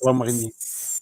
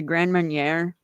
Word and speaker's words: Grand Marnier: Mama Coop, do you I drink liquor like brandy or uh, I I Drambuie or honestly can Grand Marnier?